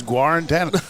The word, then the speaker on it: Guarantano: How do you pronounce that? I think it's I've always heard Jared Guarantano. All right, it's Guarantano.